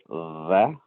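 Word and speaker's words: ث: The tha here, it's like when you pronounce the word three, three, the number three Uh-huh. is Stop. different than the, Stop. right? Stop. Okay. Right? So three, it's like your tongue is a little more out.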